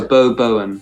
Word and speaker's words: Beau Bowen: Our band is spelt BEAU. That's Beau, and then BOWEN. So Beau Bowen.